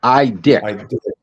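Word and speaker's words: Idec: what Keith did, no, you didn't pronounce Gary. It's Idek. That's his name, Keith Idek.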